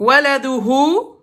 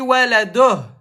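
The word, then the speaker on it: ولده: Donc, waladouhu. Voilà, Nissa, elle a dit waladoh. Parce qu'elle a appliqué la règle où, à l'arrêt, on ne prononce pas la dernière voyelle.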